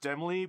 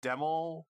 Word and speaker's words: Demel: I know, I thought this was pronounced Demly, but I guess it's Demel. Sort of like apple, since it is like an apple fighter, but I feel like to make that pronunciation clearer, Demel probably should have been spelt with 2 M's instead of just 1.